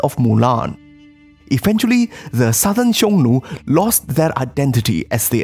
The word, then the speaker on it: Xiongnu: Xiongnu, pronounced in ancient Chinese, would probably sound something like Hunnu, and there are various